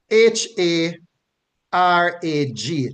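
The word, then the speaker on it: הרג: which they are derived comes from the the the the the Hebrew as h a r a g that's what it's transliterated to in English and it is pronounced harag harag harag harag meaning to Smite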